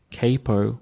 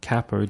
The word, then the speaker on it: capo: be the use of a capo or cppo depending on which way you want to pronounce it um and they come